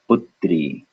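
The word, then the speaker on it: पुत्री: the but first syllable would be put second syllable would be so if you put it together we would have putri putri putri putri putri so on a small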